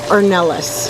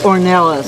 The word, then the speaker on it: Ornelas: And my last name is actually pronounced Ornelas. Ornelas.